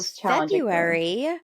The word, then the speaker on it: February: was your Fe February the r is silent um I know so February February is my birthday